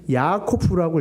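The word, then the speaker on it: יעקב: 일부러 이렇게 만들어 놨어요.이 야곱이라는 말을 히브리어로 어떻게 읽냐면 야코프라고 읽어요. 야코프. 그리고 야복강이라고 했잖아요.이 야복이 뭐예요? 야보크라고 있습니다.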